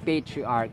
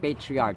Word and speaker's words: patriarch: condone patriarch patriarch it's patriarch it's not patriarch ch is pronounced as k as in archive archive monarchy hierarchy patriarch